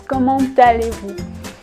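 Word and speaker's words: comment allez-vous: might have heard that I actually pronounce this little T at the end which is not usually pronounced any letter in French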